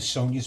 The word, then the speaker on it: Sonja: saying, happy birthday to Sonia's mom. Her name is Janice, but it's spelled funny. Janis. Why? I don't know. Sonia is spelled funny too. Sonja.